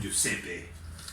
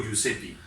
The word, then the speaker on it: Giuseppe: Giuseppe. ¿Giuseppe o Giuseppi? Giuseppe, Giuseppi. pero se escribe Giuseppe.